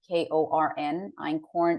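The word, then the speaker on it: einkorn: I eat Ancient Grains called Acorn and and that's spelled e-i-n-k-o-r-n Ein corn is an ancient grain spelled is another one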